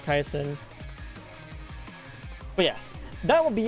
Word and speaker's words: Kaison: It's very funny that I didn't make that mistake because I have had people pronounce Kaisen as Kase. I'm like, "No, no, it's it's Kaison."